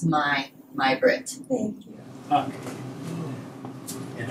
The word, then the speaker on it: Maj: M-A-J. J, yes. M-A-J. Maj Britt. Yes, and Britt is capital B-R-I-T-T. Very good. And the Maj is the word for May in Swedish.